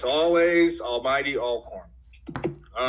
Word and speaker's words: Alcorn: going to watch it it's all corn you got to say it right because they'll get on